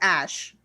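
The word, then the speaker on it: Æ: okay i'm um it's the ae symbol is pronounced ash i think that's right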